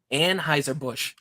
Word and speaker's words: Anheuser-Busch: going to make sure I say it correctly, Anheuser-Busch.